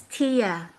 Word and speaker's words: Thea: Let's talk to Thea. Thea, are you here? Is it Thea or Thea? It's Tia. Tia. Oh, you were Tia. Okay. It's spelled T-H-E-A. That's a Greek name, though.